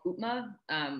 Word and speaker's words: upma: comfort food indian dish called utma which is spelled upma and it's like the